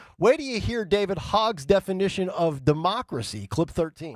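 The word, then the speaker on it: Hogg: Phil, by the way, is it Hogue or is it hog? It's spelled Hog.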